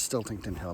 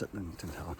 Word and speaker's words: Sitlington Hill: Sitlington Hill, which I always want to mispronounce as Stiltington Hill, but it's not. It's Sitlington Hill.